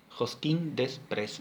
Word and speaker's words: Josquin Desprez: Misa Lo Marmé de Josquin Desprez. No sé si lo pronuncié bien, perdonen. Si no, alguien me manda un WhatsApp y me corrige. No, profe, se dice Josquin Desprez, se escribe así, ¿sí?